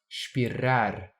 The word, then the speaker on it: espirrar: People might say everything with a rolled R. They might pronounce espirrar, kind of like João Melo is singing, but I'm going to sing with a Lisbon accent.